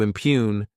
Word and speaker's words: impugn: To impugn, this word has 2 syllables, and the stress is on that second syllable.